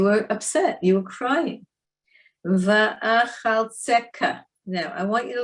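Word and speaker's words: ואחלצך: Va'achaltzeka, because it's a chaf sofit with a dot, so it's a kaf sofit.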